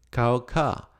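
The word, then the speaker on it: קעקע: ver la palabra tatuaje en el hebreo la pronunciación es cauca y se lo pongo ahí en la pantalla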